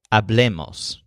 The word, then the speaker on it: hablemos: For the group, the stress is on the le, hablemos.